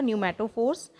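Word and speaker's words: pneumatophores: जाती हैं जिन्हें हम न्यूमैटोफोर्स बोलते हैं। पी इसमें साइलेंट रहेगा, न्यूमैटोफोर्स and breathing roots for breathing.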